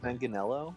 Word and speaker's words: Manganiello: No, Joe Manganiello. I said that very American. Manganiello? I think he's the way he pronounces it. The first part's mangia in Italian, like eat.